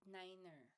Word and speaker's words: niner: So uses the NATO phonetic alphabet, like for example, the Alpha, Bravo, Charlie, Delta, and a specific pronunciation of numbers, like 1, 3, and niner.